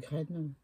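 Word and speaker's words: Grene: Ça s'écrit Sostren S-O-S-T-R-E-N-E et Graine G-R-E-N.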